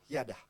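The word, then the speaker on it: ידע: Tulisnya knowledge, tapi bacanya yada.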